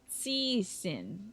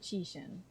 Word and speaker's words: Cixin: Liu Cixin. Cixin. Not Qixin, but Cixin. With the t sound to it.